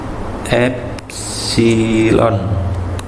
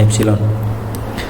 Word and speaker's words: epsilon: satuan internasional ini ini tadi bacanya epsilon ya hexilon bacanya epsilon nah ponselnya Ini sederhana